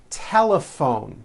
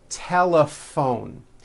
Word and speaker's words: telephone: Telephone. Notice the PH combination in that word is also pronounced as an F. Telephone.